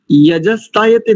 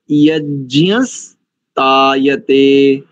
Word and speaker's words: यज्ञस्तायते: दो स्थानों पर देखो माताजी, यजस्तायते नहीं करेंगे और सप्त होता, सप्त तावी तो पूरा है ना, तो पहला पद यज्ञस्तायते एक और सप्त होता, ठीक है जी।